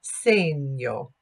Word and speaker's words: segno: yo so we don't pronounce that segno we pronounced that same yo so Talia same yo yo yo and not